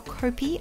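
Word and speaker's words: kopi: course we started with coffee or copy as the locals say and we saw some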